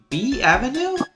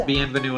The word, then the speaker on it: bienvenue: French stereotype very B Avenue that's not how you pronounce bienvenue at all oh look at